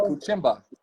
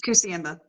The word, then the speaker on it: Kusiamba: Kuchimba. What's that? I call him Cucumber because I never can get his last name right. Yeah, I probably butchered it. It's Kusiamba. Kusiamba.